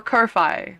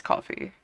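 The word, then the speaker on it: Ko-fi: And it's like, but that means I'd still have to find something for you guys, you know, or Kofi, which is not how you pronounce it, but it's coffee.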